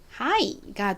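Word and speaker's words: high: 아이 소리가납니다 자 그래서 하이가 되죠 그리고 뒤에 gh가 있지만 얘네는 있으나 마나한 무궁이에요 그래서 얘를 빼 주시면이 단어의 발음은 하이가 됩니다 어 여러분 하이 하니까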